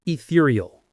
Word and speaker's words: ethereal: The texture of the fish was so light and delicate, it was almost ethereal. Ethereal. Ethereal. The stress is on the second syllable.